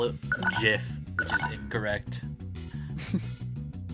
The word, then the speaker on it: GIF: You you pronounce it with a J instead of a G. A G. What? And this time RFI. I don't know. GIF.